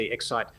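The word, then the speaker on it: Xsight: Excite photography and video, Excite spelled with an X, so X-S-I-G-H-T, Excite. Mm-hmm.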